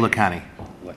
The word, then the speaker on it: Lacani: On dit Lacani? Comment on prononce votre nom? It's Lacani. Lacani.